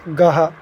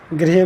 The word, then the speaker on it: गृह: और गृह, जैसे गृह हो गया तो गृह, गृह में ये गृह आता है, और ये री की मात्रा ग पहले झटके से पढ़ना होता है, फिर री की मात्रा, तो गृह।